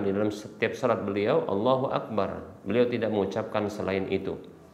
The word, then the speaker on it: Allahu akbar: bukan berarti Imam Syafi'i yang membolehkan allahul Akbar beliau membacanya Allahu akbar tidak hanya saja Beliau mengatakan boleh dibaca dengan allahul Akbar karena hadisnya Allahu akbar maka ini yang lebih utama demikian wallahu Ta'ala nah